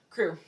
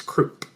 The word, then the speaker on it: Croup: How do you pronounce that name? Crew. See, that's what I thought. Crew. Mm-hmm. But in every adaptation, it's Croup. Croup. Yeah, Mr. Croup. It's Croup. And I always pronounce it like Coo, Me too. But no, it's Croup. It is Croup.